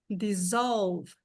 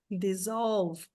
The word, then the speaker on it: dissolve: Dissolve. Dissolve.